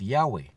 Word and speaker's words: Yahweh: So the original name of our Heavenly Father is Yahweh. That's the full pronunciation of that YHWH.